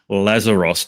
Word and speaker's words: Lazaros: My special guest for today is Christina Lazeros. Did I pronounce that correctly?